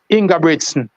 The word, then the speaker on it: Ingebrigtsen: Jamaican will say Jacob, but they pronounce his name Jakob Ingebrigtsen.